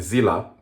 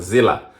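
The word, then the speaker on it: Zille: I made when Helen Zilla actually I've been asked by a friend of mine to not to pronounce uh the iron lady's name as Zill but Zilla. And so I've learned that.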